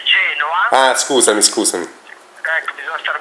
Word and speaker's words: Genoa: Non si dice Genova, si dice Genoa.